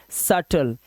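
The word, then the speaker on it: subtle: साज को बोलते हैं ठीक है ऐसे ही सटल इसको पढ़ेंगे सटल सटल मतलब जटिल ऐसे ही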